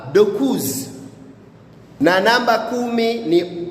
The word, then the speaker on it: dokuz: Na namba tisa utamkwa dokuz.